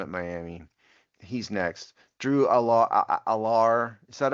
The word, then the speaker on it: Allar: Drew Allar. Is that how to pronounce it, Dave? Aller.